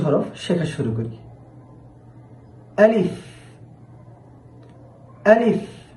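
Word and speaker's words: ألف: আলিফ আলিফ হরফটি উচ্চারণের সময় সামনের উপরে যে দুইটি দাঁত রয়েছে এই দাঁতগুলো নিচের ঠোঁট এর মাঝ বরাবর অর্থাৎ নিচের ঠোঁটের পেটে এসে লেগে যাবে।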